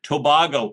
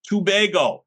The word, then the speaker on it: Tobago: And I'm going to mispronounce it on purpose. Tobago. And then it says pronounced tubego.